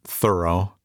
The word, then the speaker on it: Thoreau: they called him lazy thoreau he pronounced it thorough however was not wasting